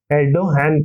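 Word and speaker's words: Erdoğan: जो जी होता है वो एच साउंड करता है, एच, एर्डोगन प्रोनाउंस होगा।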